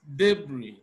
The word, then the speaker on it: debris: representing the sound Z option A we have debris Z is not there is not de is Deb even the S is not pronounced option b is roots